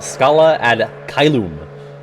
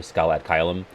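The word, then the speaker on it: Scala ad Caelum: That's how Yen Sid says it. He really puts the loom in it. I guess you're supposed to say it like that, but I always go Scala ad Kailum. But they really go heavy on the loom when they say it, Xehanort and Yen Sid.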